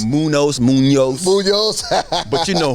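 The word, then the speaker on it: Muñoz: the best Anthony Muno Munos okay that's how you pronounce Munos Munos Munos Munos but you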